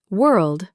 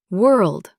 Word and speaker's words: world: World. Work. Say them with me slowly. Word. Word. World. World. Work. Work. All three start with that soft were sound. Not war. Not war. Just were in a sentence.